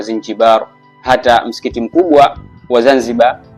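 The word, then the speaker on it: زنجبار: Na hadi leo Zanzibar kwa Kiarabu unapoiandika unaiandika Zinjibar, na utamkaji wake kwa Kiarabu inatamkwa Zinjibar.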